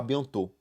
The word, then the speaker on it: bientôt: Então esse T a gente não fala, é a bientôt.